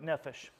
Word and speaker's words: nefesh: So the main term for Hebrew for the term soul is nefesh. Oops, already messing it up. So nefesh.